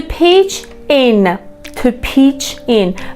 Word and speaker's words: pitch in: to pitch in، بچه این ت پرونانس نمیشه، خوانده نمیشه.